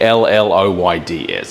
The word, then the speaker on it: Lloyd's: I put on a little bit of a Lloyd's, but it's actually L-L-O-Y-D-S.